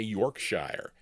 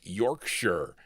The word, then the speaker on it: Yorkshire: I used to say Yorkshshire, but it's Yorkshire.